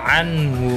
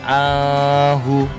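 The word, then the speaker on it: عَنْهُ: Selanjutnya, ma'auna anhu maluhu wa ma kasab. Anhu ada nun bertemu hak, nggak boleh dibaca ahu, tapi anhu, langsung anhu dibaca jelas, nggak boleh ahu tapi anhu.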